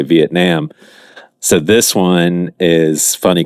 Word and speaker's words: Vietnam: I found is that most people in America say it with the ah sound. So that is the most prevalent pronunciation is Vietnam, but some people say Vietnam.